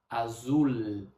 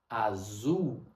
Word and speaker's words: azul: A palavra azul termina em L. No português brasileiro, nós não falamos azul. Nós falamos azul. É como se fosse dois u azul. Você só prolonga o azul.